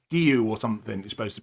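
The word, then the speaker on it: Guéhi: up front, Bravka, Konza, Estbay, and it's not gooey. I found out this week, Trig, it's Gu or something. You're supposed to pronounce it as a a thing.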